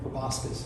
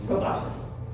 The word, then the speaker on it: proboscis: Proboscis. Proboscis.